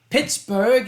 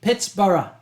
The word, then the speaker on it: Pittsburgh: It is not Pittsburgh. It was originally Pittsburgh. Rhyming with Edinburgh. Edinburgh, okay, Pittsburgh. But then the Americans came in and said that we want to be a burger town, so we named it Pittsburgh.